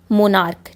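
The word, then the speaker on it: monarch: एंड हो रहा है लेकिन उस सी एच का साउंड जो है वो च की जगह क आ रहा है, हम उसको क से प्रोनाउंस कर रहे हैं, जैसे स्टमक। सो स्टमक, मोनार्क, ठीक है।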